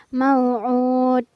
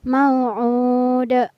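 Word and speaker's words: موعود: Kurang tepat apabila kita membaca mau'ud. Tapi yang benar adalah mau'ud.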